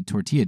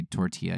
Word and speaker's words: tortilla: say when you see tortilla chips you don't say tortilla you say tortilla right or um if